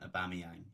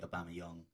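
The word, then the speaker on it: Aubameyang: pronounce their name Webber I keep calling it a balmy own his name is actually a Bama young Santi Cazorla but yeah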